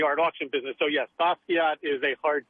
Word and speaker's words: Basquiat: I'm being told now that Basquiat is actually a hard T, and it's not French.